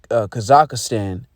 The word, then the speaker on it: Kazakhstan: I believe it's pronounced Kazakhstan.